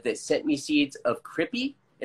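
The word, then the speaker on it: Cripi: seeds of Crippy, and it was spelled C-R-I-P-I, and I always pronounced it creepy because Crippy wasn't a word at the time that people were using in California. So I thought it meant creepy, and I thought he was misspelling.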